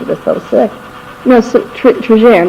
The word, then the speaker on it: Trigère: But I think they pronounced it with a soft G in France. Trigère.